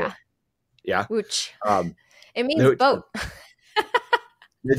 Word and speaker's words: Łódź: Łódź.